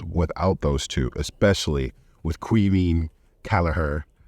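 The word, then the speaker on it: Caoimhín Kelleher: those two especially with quean caher as one of our uh our awesome subscribers corrected me in our last video that's how you pronounce his name uh if you're Irish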